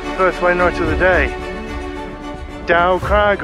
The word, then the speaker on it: Dow Crag: night of the day dow craig or doe crag as it's pronounced 778 meters 2552 feet